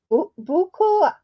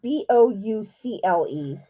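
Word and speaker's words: bouclé: and your choices are a buckle it's not b-o-u-c-l-e let me type it i i know i'm saying it wrong and um b is moreno c is uh tweed and d is is uh shetland and again the question is what is considered the finest type of wool yarn and your choices are a oh it's boucle that's how you say it okay okay a is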